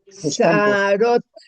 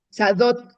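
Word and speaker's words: שדות: y de la sarot. Sadot, sadot, sadot.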